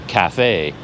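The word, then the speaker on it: cà phê: So even cafe, 2 syllables, they separate it into 2 words, and it's actually Ca, Fe.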